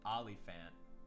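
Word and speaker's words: Olyphant: Olifant.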